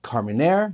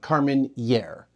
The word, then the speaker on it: Carménère: from Chile featuring The Grape carire first it's pronounced carire not Carmenere it's a fren word and there's no till